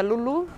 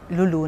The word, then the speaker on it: Lou Lou: brasileiras inclusive acredito que sim né e a pronúncia Lulu Lulu né se escreve lou lou ele escreve L